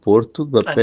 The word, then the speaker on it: Porto da Pedra: the veil de Porto de Padre which is pronounced Val Porto de Pedra and it is inside in around Porto de Padra Porto the Pedra.